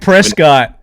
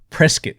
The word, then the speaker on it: Prescott: Another big deal with Moscow is it's like Prescott, Arizona. Prescott.